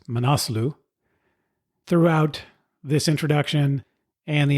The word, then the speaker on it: Manaslu: the conversation with Tony I referred to to it as the monu circuit or the monu track after talking to Rajan I realized that it's pronounced manasu throughout this introduction and